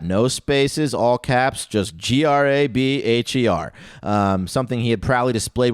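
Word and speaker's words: Grabher: of his last name which may be pronounced grab yet grab a or grabber or grab EA but but it's spelled GRA b h ER grab her you can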